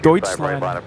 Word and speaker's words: Deutschland: How did our friend from Germany pronounce Deutschland again? It's more like Deutschland. Deutschland.